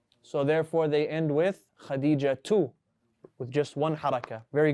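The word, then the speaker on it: خديجة: Is Khadija a name that accepts tanween or no? Do we say Khadijatun or Khadijatu? You said with a tanween?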